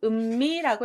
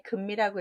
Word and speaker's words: 음미: 음미라고 있습니다. 이지금자 때문에 금미라고 읽으시면 오답이셨습니다.